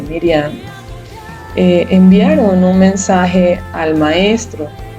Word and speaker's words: Miriam: Cuando usted lee el pasaje, vemos cómo Marta y María, o Miriam, que es el nombre en hebreo, María se pronuncia o se dice Miriam, enviaron un mensaje al